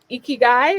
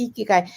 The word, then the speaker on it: ikigai: book you speak about ikigai am i saying that correctly you said it right oh wow okay yeah but i i yeah you caught it there the icky guy i had it wrong and someone shared it